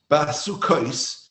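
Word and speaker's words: בַּסֻּכֹּת: Basukais is the way we pronounce it is plural.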